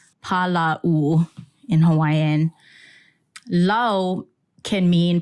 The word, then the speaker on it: hālau: for people listening who can't see yeah it's Paulo in Hawaiian Lau can mean plentiful law also